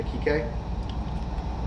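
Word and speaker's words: Kiké: Yeah, Kike. Kike. That's how you say it? Yeah. Yeah. Kike? Kike. There's a accent. on the E.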